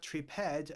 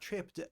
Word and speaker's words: tripped: You may remember from previous videos, if there is a word that ends in P and then ed, the pronunciation might be PT. So, it's not tripad, it's not tripped, it's tripped with a t at the end.